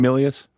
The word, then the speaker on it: Milius: Milius.